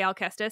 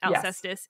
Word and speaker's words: Alcestis: clarification for my listeners I'm gonna say alus because I always had have but I recognize that alus is also a valid pronunciation in English um but alus is